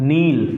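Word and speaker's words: kneel: okay yes this is नील clear again here के does not produce any sound now come to द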